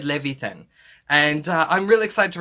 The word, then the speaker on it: Levithan: about this book and i called the second author david leviathan and i got that so wrong so i'm so sorry that i butchered his name it's david levithan and i'm really excited